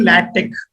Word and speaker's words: LaTeX: So it is actually, even me usually pronounce it as LaTeX because of this last X. So it is actually LaTeX. we need to pronounce it as a latex.